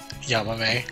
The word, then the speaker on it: Yamame: how do you pronounce her name? Yamame.